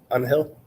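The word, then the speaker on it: Ángel: long has he played on Hill would be a better pronunciation that's how you would say it in Spanish on Hill all right I am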